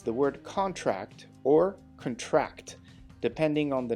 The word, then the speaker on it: contract: The contract will be renewed every 2 years. So this is the noun, contract. Careful not to contract the virus. Contract is the verb. The stressed syllables are in blue.